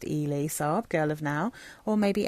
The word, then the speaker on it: Elie Saab: I think it's pronounced Elie Saab, Girl of Now, or maybe Elie Saab, but I think it's Elie Saab.